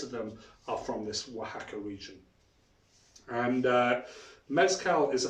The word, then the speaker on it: Oaxaca: So that's pronounced Oaxaca. And you may know Oaxaca from the restaurant chains with a W, but the real spelling is with an O. Oaxaca is how you pronounce that. So Oaxaca is the home of mezcal.